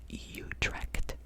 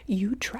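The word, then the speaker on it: Utrecht: we've got a city in the Netherlands called utre utre it's spelled u d r e c h d so hopefully I'm saying it correctly shout out to my friends my friends my friends my besties in utra ut you direct you direct I hope you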